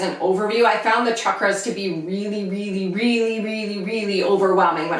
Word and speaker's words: chakras: I recently learned that I've been pronouncing chakras wrong. All of my teachers say chakras, and so I'm really trying to make an effort to change my pronunciation, but it's really difficult when for the last 7 or 8 years I've said chakras, and now I'm trying to say chakras.